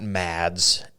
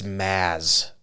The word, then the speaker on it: Mads: It's not Mads. Is it Mods? It's Maz. Maz? Yeah, like Mazzy Star. Huh, that's interesting. No D. No D. You don't say D.